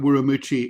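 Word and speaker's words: Ürümqi: of Wucci which is but Wucci is spelled U Ru mqi you will know that's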